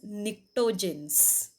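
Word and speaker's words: pnictogens: as nitrogen family which is also called as nicktogens see though the spelling starts with p is silent this pronunciation is nectarines then group 16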